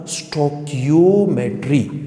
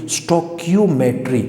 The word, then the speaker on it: stoichiometry: जैसे लफ्ज़ मैंने क्या लिखा है, स्टोइकियोमेट्री, इसका प्रोनाउंसिएशन कैसे होगा, स्टोइकियोमेट्री।